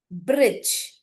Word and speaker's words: bridge: We cannot hear the sound of letter D.